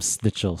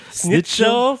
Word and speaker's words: Schnitzel: I love them snitch. Both of you can't talk today, man. Snitch. Schnitzel?